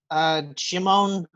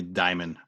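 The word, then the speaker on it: Djimon: Juba, Jimon Honsu? I'm not sure how to pronounce his name. The J's probably silent. It's probably Diamond.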